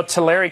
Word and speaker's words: Tulare: we took which is really unfortunate you know Tulare County is how it's pronounced actually but the Tulare County we are